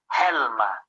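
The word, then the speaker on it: חלמא: the word for dream the word for dream in aramaic is helma helma and that's spelled h-e-l-m-a you can add another hu if you want to get the sound helma that's how we say it and the root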